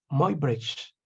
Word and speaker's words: Muybridge: aquí están las fotografías del famoso ¿cómo se pronuncia? Muybridge.